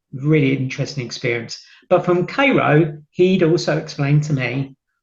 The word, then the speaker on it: Cairo: to Cairo Illinois it's spelled Cairo but it pronounced as Cairo um Stuart had kind of given me a heads up of what I could expect at k-ro and sure enough big description was very good